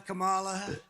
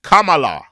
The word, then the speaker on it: Kamala: Stand up and tell Kamala or Harris.